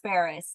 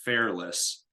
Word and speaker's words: Fairless: best syndication book by Joe Ferris is that correct I believe it's called the best ever syndication book by Joe Fairless Fairless okay I can't pronounce people's names today yeah Fair less l-e-s-s okay I know the name